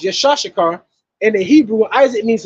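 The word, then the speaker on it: יצחק: name will be Isaac Isaac is is is pronounced yashar and the Hebrew Isaac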